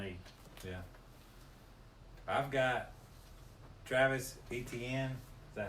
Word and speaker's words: Etienne: I've got Travis Etienne.